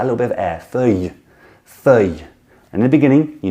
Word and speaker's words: feuille: sound great saying that, is just this y on the end, feuille, feuille. You hear, I push out a little bit of air, feuille, feuille.